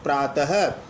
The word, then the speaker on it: प्रातः: जैसे हरि, विसर्ग लग जाने पर हरिः, प्रात में विसर्ग लग जाने पर प्रातः। अब विसर्ग सहित रूप को आप प्रात नहीं बोलोगे, प्रातः, यानी विसर्ग का उच्चारण पृथक रूप से होता है।